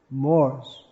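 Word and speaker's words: mores: Moors. That's spelled M-O-R-E-S, and sensibilities.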